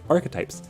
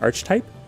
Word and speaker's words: archetype: of archetype I was I was saying Arch type because I for some reason thought that like you said archetype for like a stereotypical character like in fiction uh apparently that's not